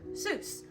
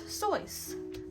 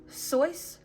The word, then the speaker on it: Seuss: Seuss, but the correct way to pronounce this name is Seuss. Think of voice except with an S. So instead of a V, you replace it with an S. Seuss, voice. Very similar.